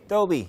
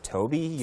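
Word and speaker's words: Tobi: pronounce the word, because a lot of people think T-O-B-I is just like, you know, it's pronounced differently, yeah. So your original name, your real name is Toby?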